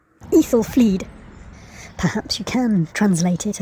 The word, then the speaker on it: Aethelflaed: The A-E letters pronounced like encyclopedia. Aethelflaed.